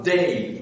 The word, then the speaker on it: dey: Vous aviez à Tunis un bey, B-E-Y, et vous aviez à Alger un dey, D-E-Y, un D, un B, un D. C'est pour être audible que j'ai prononcé en distinguant donc les voyelles.